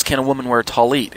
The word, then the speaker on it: talit: What is a talit? And just say it like the two words, tall as opposed to short, and eat as opposed to drink. So tall, eat.